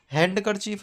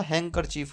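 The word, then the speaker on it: handkerchief: है वेनसडे बोला जाएगा हैंड करर चीफ नहीं होता हैंकर चीफ होता है एज बोला जाता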